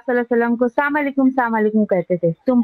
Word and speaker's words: السلام علیکم: Hello نہیں ہے، بلکہ السلام علیکم یا سلام علیکم، دونوں میں سے آپ خود بھی کہہ سکتے ہیں. پھر یہ دیکھیے کہ اس کا تلفظ بھی صحیح ہونا چاہیے ہمارا. السلام علیکم، السلام علیکم، السلام علیکم.